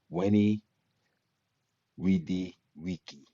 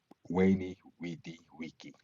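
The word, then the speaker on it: veni, vidi, vici: V is always pronounced as if it were a W. What Caesar Caesar said after he defeated somebody or other. Weni Widi Wiki. Sounded as if he had just conquered Hawaii.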